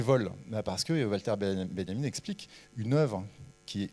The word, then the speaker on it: Benjamin: C'est Walter Benjamin, ça s'écrit Benjamin, ça se prononce Benjamin, c'est un allemand qui a écrit un un petit livre que j'adore, que je cite chaque année.